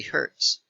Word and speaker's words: Hz: a frequency of 60 Hertz okay so this is the frequency remember HZ is pronounced hertz okay it's named after